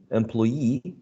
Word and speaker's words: employee: So payee, employee, journalese, cigarette, and picturesque are interesting cases in which the stress shifts to a different syllable. But in this case, the stress syllable is the one which is the suffix, right?